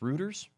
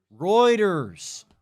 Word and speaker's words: Reuters: Ruters. Reuters. How do you pronounce this one? Popers. Reuters. Like roids. Like steroids.